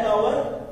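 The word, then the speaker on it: hour: एन आवर, एच इसमें silent हो गया ना, तो साउंड कौन सी बनी वोवल की, तो इसलिए हमने यहां पे एन यूज किया है।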